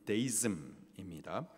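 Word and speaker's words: deism: 가운데에서 이신론이라는 것이 있어요 이신론 영어 발음으로는 데이즘입니다 신의 존재에 대해서 다른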